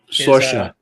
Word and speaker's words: Saoirse: I do want to say a quick thing Always on her character, on Saoirse, I think is how it's pronounced. Saoirse.